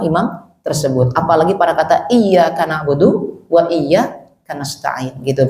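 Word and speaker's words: إِيَّاكَ: Apalagi pada kata iyyaka na'budu wa iyaka nasta'in gitu, Pak. Ya, kalau dia bacanya iyaka na'budu wa iyaka nastain enggak ada tasdid, jangan salat di belakangnya, Pak.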